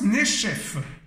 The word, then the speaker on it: Nechef: Alors, ça vient de Nachaf et ça se prononce Nechef.